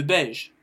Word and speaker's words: beige: Donc le beige qui s'écrit de la même façon que le français, mais qui ne prononce pas la même chose. Donc le beige, beige. Alors pourquoi beige? Parce que le E le remporte sur le I.